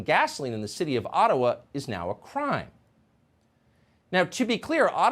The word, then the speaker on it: Ottawa: let the mayor of ottawa or atawa as it's correctly pronounced ojibwa explain why peaceful